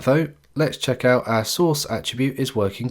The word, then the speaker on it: src: To do this, we will use the src attribute, which is pronounced source and contains the path to the image we want to embed.